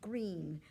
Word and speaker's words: Greene: Greene, that's Greene with a silent E at the end, discovered that they were expecting a baby girl.